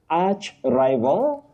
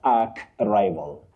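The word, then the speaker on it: archrival: Now Betty, that combining form takes the sounding arch. Arch, not ark. Archbishop not ark bishop. Okay. Arch diosis, not ark diosis. Arch rival, not ark rival.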